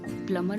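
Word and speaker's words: plumber: date and subtle okay नंबर इनका एक exception हो सकता है क्योंकि ऊपर हमने देखा प्लमर में हम बी का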